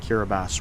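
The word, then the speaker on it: Kiribati: K I R I B- A TI, but it's pronounced Kiraabas.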